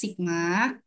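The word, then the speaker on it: σ: Sigma ini bacanya sigma, teman-teman. Ini juga bacanya sigma. Jadi jangan bingung ya. Ini juga dibaca sigma.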